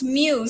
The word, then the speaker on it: mu: manchester united fan so apparently it's now pronounced mew so you know mu